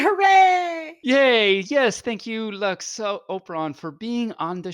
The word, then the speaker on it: Lux: My name is Lux. It rhymes with trucks, and also ducks, and also flux, and also...